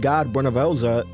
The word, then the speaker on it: Bhunivelze: Within the realm of the living, Bhunivelze, yes, I pronounced that right, killed his mother Muin in order for him to take full control over the mortal realm.